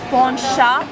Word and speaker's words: Poncha: of the island of Madeira through something traditional Poncha se name and now I've learned to pronounce it correctly It's a drink with alcohol